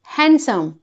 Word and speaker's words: handsome: नहीं इसमें ड का प्रोनंसिएशन नहीं है। Right pronunciation is हैंडसम। हैंडसम। Imagine करिए कि ड स्पेलिंग नहीं होने पर आप इसे कैसे प्रोनंसिएशन करते। आप कहते हैंडसम।